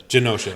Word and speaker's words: Genosha: Genosha. Is it? Pardon. It's Genosha. It's not a hard G.